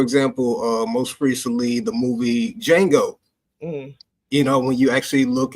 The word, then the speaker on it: Django: Because you can see D in front of the J, and you actually think that you're supposed to pronounce the D because, this is where